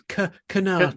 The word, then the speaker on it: Sinatra: We don't even pronounce it like a sir. It's Sinatra.